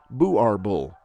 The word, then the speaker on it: Boerboel: the South African Boerboel in the Afrikaans language Boerboel is pronounced buar bull which means Farmer's dog and these Guardians are